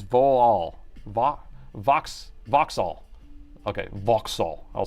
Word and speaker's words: Vauxhall: 67 Jag man pronounces Volal Vox Voxall. Okay, Vauxhall.